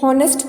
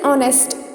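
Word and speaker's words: honest: हॉनेस्ट तो नहीं बोलते ना. व्हाट विल यू से? यू से ऑनेस्ट. सो जो आपकी प्रोनाउंसिएशन है या जो अपने का बोलने का तरीका है वो किससे स्टार्ट हो रहा है? ओ से.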